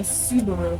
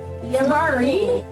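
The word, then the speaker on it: Psabari: Pronounced Sa-bar. wow, I did Subaru basically. Subaru. Laughable. No, Savara. Wow. Sabari. So shouldn't it be an I at the end? It is, Sabari.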